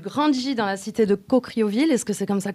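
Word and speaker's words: Caucriauville: famille du tu grandis dans la cité de coocrioville est-ce que c'est comme ça que ça se prononce déjà exactement ça ouais voilà as-tu des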